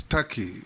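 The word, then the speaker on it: Türkiye: the comments made by it is not called Tak it's Taki it's only written Tak but it's pronounced Taki thank you I that is the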